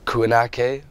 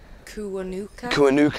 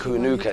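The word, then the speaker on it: Kiwanuka: And yeah, and the Emily Sande, and I always pronounce his name wrong, Michael Kuanake. Is it, how do you pronounce it? Kuanuka, I think. Kuanuka, yeah. They're two fantastic acts, you know.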